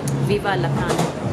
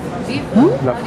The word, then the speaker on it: Vive la France: So, viva la France! No, how do you say it in French? Viva France. Huh? La France. Vive la France.